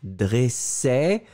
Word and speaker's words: dressait: que nous cherchions d'accord le deuxième bébé ça encore une fois c'est le est qui est ouvert dressait d'accord premier dressé deuxième dressait